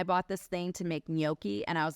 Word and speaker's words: gnocchi: It's spelled with a G, but you don't pronounce it, but it's like you got to have like phlegm in your throat and you're like gnocchi.